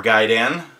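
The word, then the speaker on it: Gaiden: is ninja gayen or Gan um I know it's a gan but we've always pronounced it gayon where I come from so you know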